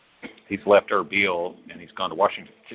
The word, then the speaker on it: Erbil: In fact, it's spelled Arbil, but anybody that knows anybody from that region, it's pronounced Erbil. He's left Erbil and he's gone to Washington.